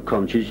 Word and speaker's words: Conch: The name Conch, the locals pronounce it conch, is taken from the